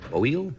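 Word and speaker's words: Oail: of a strange name o a i l if you can pronounce it oil oh oh like I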